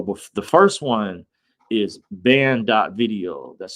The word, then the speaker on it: Banned.video: But the first one is ban.video. That's spelled BANNED.video.